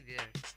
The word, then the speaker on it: vier: VIER spelling है उसकी, और उसको बोलेंगे देयर।